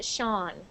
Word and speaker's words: Sean: so someone's name and it is pronounced Sean it's a very strange word but it's pronounced Shan how come I don't know but that's a a pretty common name so if you ever see that name it's sha Sean okay yes next one where